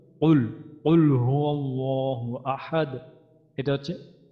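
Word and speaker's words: قُلْ: কুল, এখানে আমাদের হচ্ছে কফ, তাইলে আমাদের একটা উচ্চারণটা হবে কুল, কুল হুয়াল্লাহু আহাদ, এটা হচ্ছে।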